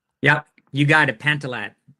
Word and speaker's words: Pantilat: Stephen Pantlet. Help me with the pronunciation. Yeah, you got it. Pantallet.